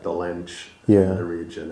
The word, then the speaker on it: Dolenc: It's Dolenc, pronounced yeah. like Dolenc Yeah. in the region. It has like a hyphen on top of the C, but Right.